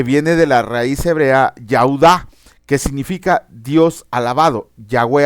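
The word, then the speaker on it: יהודה: viene Judá que viene de la raíz hebrea yuda que significa Dios alabado yahwe alabado luego nace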